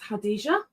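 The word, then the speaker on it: Khadijah: My name is Hadijah um spelled with a silent K.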